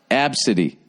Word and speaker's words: ABCDE: the first 5 letters of the alphabet is pronounced absidy.